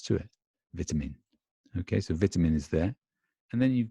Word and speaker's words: vitamin: like vitamin vitamin vitamin I hope you noticed the pronunciation is quite different trying the British pronunciation and the American pronunciation vitamin we say vitamin baby sounds funny to you vitamin take your vitamins whereas an American would say something more like vitamin provide him in and